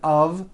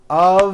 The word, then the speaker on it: of: Even though the word of is spelled with an F, we pronounce the word of with a voiced V.